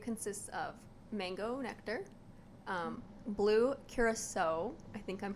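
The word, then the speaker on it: curaçao: And it consists of mango nectar, blue curacao. I think I'm pronouncing Kurosawa?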